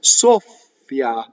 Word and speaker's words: soffia: So in this case, ssoffia, soffiare. Notice that the F doubles. How do I do it? I just hold on to the ssoffia.